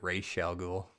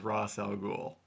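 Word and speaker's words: Ra's al Ghul: Is it Razal Ghoul or is it Ray Shal? So I heard that the correct Arabic pronunciation is Rosal Ghoul. Same. But I prefer Ray Shel. That's the one I prefer.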